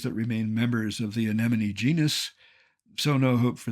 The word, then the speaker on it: anemone: how to say anemon think of it as any money but with the accent on the second syllable and you'll